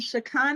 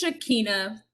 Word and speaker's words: Shakina: Okay, so Gladys and Shakana, am I pronouncing your name correctly? It's Shakina. It's Shakina.